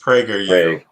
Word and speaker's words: PragerU: this video I want it's pronounced Prager you yeah like praying to God talk about T gab